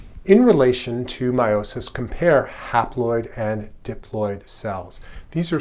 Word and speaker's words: haploid: And the half number of chromosomes kind of rhymes with the word half, or it begins with the same prefix. It's called haploid.